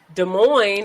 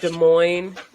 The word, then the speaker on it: Des Moines: I think that Eric is from Des Moines. Yeah. Just a side note. Or he's You from that area at know, least. Des Moines, neither of the two S's.